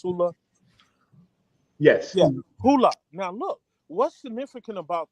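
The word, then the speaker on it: Hulu: Is it pronounced Hula? Yes. Yeah, Hula.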